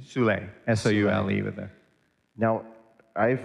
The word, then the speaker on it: Soule: Could you remind me of his last name, the pronunciation? Soule, S-O-U-L-E with the.